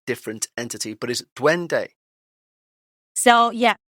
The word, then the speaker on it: duende: be a completely different entity, but is it duende? So yeah, it's duende.